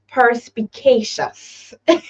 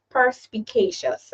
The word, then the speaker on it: perspicacious: persp hold on pers perspicacious I pronounced it right right pous so it's percious all righty and of course you know we use the British pronunciation right so perspicacious and the definition having